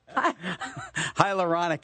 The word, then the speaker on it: hyaluronic: is one hydro colonic acid how do you pronounce it don't laugh at me already Nick hyaluronic acid on ik knee pain we all know